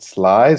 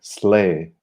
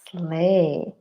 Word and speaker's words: sleigh: Nicht Sly, sondern Sleigh. Ein Sleigh. Sehr gut. Slay.